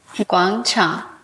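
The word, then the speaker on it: 广场: And first of all, how do you pronounce that in Chinese? Guang Chang.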